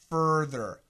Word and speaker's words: further: is the same thether so let's look at the front ba f a ba fur father further a a it's a huge difference Andrew you need to